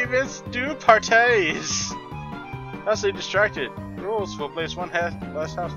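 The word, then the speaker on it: Rouxls: The rules, pronounced rules, are simple.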